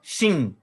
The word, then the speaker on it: Shin: O pontinho aqui em cima, Shin. O pontinho do outro lado, Sim. Então, essa aqui é uma letra que tem duas pronúncias, né? Uma é SH, Shin, e a outra é Sim, sem o H.